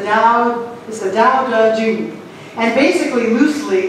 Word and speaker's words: Tao Te Ching: It looks like Tao Te Ching, but it's the Tao Te Ching.